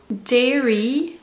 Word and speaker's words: dairy: dairy, dairy, dairy.